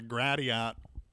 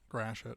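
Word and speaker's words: Gratiot: I love turning on the Gradiat on according to my GPS. Grash it. Oh yeah, your dad calls it Gradiat.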